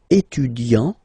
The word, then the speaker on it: étudiant: Il est étudiant. Okay, A-N-T, étudiant. Okay, but then for the feminine form, elle est étudiante. Okay, t, t, t. Okay, you don't really insist on the but you insist quite much on the T.